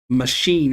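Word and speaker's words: Machín: Machine is how you apparently say his name.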